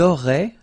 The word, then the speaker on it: auraient: Vous auriez, little link between the two, vous auriez, and then ils auraient, little link, but then look, A-I-E-N-T like that, and you only pronounce E, like we had here.